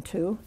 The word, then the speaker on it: two: um of course twwo there's no W sound in two t w o we